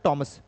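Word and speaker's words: Thomas: टॉमस white, इसको थॉमस और टॉमस दोनों पढ़ते हैं, इसका सही प्रोनाउंसिएशन होता है टॉमस, ब्रिटिशर्स के अकॉर्डिंग।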